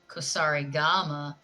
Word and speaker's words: Kusarigama: See, that's why I have a normal, boring Kusari Gama.